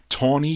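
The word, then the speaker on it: Tawney: gal by the name of tawny vaughan t-a-w-n-e-y tony vaughn's her name this one came out in december of 1965.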